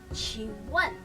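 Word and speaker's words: 请问: Contoh nih, dalam bahasa Mandarin ada yang namanya qingwen.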